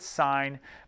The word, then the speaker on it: sine: one is called sine you pronounce it sine but you write down s i n as the abbreviation and here it is